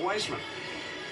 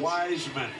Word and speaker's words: Wiseman: So, what about Weissman? Yeah, there's a lot to like about James as Am well. I pronouncing his name correctly? James Wiseman, yes. Wiseman. Wiseman. Like the wise he's a wise man.